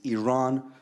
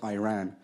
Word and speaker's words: Iran: the Iranian people but you're pronouncing our country's name wrong our country is named Iran not Iran please once and for